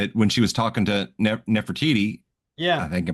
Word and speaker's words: Nefertiti: mean, his wife when she was talking to Nefertiti, I Yeah. think I pronounced that right.